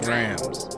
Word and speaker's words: drams: First and foremost, it's pronounced drams. Not drums.